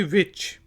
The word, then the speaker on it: which: फिर है जी विच, WHICH, विच। विच कौन सा को कहते हैं, और इसमें भी H साइलेंट है, दरमियान वाला, विच।